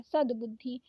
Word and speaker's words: सद्बुद्धि: तो इसीलिए मैं बोल रही हूं कि पहले द का उच्चारण करते हैं कभी भी। पहले पूरा वाला उच्चारण करते हैं। तब बाद में आधा वाला उच्चारण करते हैं। सद्बुद्धि।